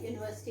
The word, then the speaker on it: university: So this is pronounced as U. So that's why I am putting a university. Right? University is a place where the student get the highest education.